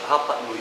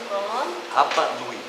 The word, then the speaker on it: Rapa Nui: Rapa Nui, são duas palavras. Rapa Nui. Rapa Nui, como se escreve, se pronuncia.